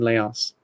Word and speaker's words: Laos: a ton of bombs for every person in Laos I sorry I I've been pronouncing this place Laos for about 40 years